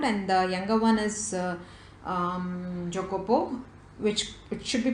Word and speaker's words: Jacopo: 13 years old and the younger one is Jacopo which it should be pronounced as yo Kapoor and he was 12 he is 12 years